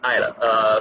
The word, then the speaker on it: Ayla: Am I pronouncing it right? It's Ayla? Absolutely. It's Ayla.